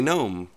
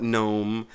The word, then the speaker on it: GNOME: gets on my nerves I call it gnome I've called it gnome since it came out in 1999 okay so it's gnome you want to call